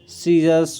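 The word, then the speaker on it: scissors: ठीक है, डिसिप्लिन हो गया, डिसिपल हो गया, ठीक है, डिसिपल हो गया, साइंस हो गया, और इसमें सीजर्स हो गया। तो इसमें सी का कोई उच्चारण नहीं है, सी का प्रोनाउंसिएशन नहीं है,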